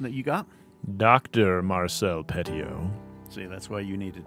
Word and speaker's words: Petiot: Because I listened to some guys talk about on it on YouTube, and they dropped the silent T at the end. So Marcel Petiot. I'm going to go Petiot on that.